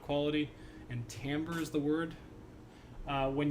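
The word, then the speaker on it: timbre: Uh, the word is tambber, but we spell it with an i for some reason.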